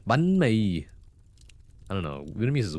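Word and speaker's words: bánh mì: I still remember when you mentioned the correct way to say bunme. It's not banme, it's bunme.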